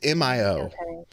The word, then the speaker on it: Mio: how to pronounce it it's either the Mayo or the Mio it's Mio um not Mia not M it was right before